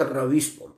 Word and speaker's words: रवीश: अनिकेत सिंह ने लिखा है कि आप रवीश कुमार के बारे में क्या बोलेंगे, ये कैसा पत्रकार है? रवीश कुमार, आप देखिए, वो रवीश नहीं है, रविश है।